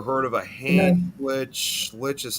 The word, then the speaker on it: lich: hand lich? Lich is how it's pronounced.